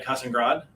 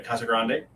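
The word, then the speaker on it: Casagrande: and art by Elena cussing Grodd casan Grande this cover is by Elena Casa Grande I pronounced the wrong the first time sorry uh we got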